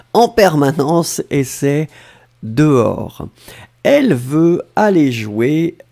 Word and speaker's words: dehors: en permanence et c'est dehors elle veut aller jouer dehors souvenez-vous que alors faites attention peace maker dehors c'est avec un s à la fin on ne prononce pas le s mais on devrait quand